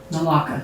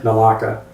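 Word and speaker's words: Naulakha: down on Kipling Road, which I refuse to pronounce because it confuses me. Say it again. Nalaka. Nalaka.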